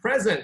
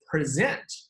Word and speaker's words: present: 中音放在前面，present 礼物，现在 present，中音放在后面，present， all right， present 意